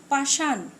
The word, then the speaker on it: পাষাণ: আবার দেখো, পাষাণ, এখানে আমরা উচ্চারণে দন্ত ন দিয়েছি।